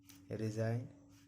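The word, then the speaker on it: resign: जी कब साइलेंट होता है, जब भी जी के बाद एन आए, जब भी जी के बाद एन आए देखिए तो जी का उच्चारण नहीं किया जाता है। रिजाइन, डिजाइन, नोम पढ़ा जाता है।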